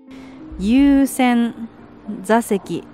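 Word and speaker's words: 優先座席: ゆうせんざせきと読みます。 It’s called “Yuusen Zaseki”.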